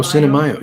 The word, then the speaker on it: Cinemayo: Cinemayo, if I'm pronouncing it right. Like Cinemayo, like Cinco de Mayo? Oh, Cinemayo.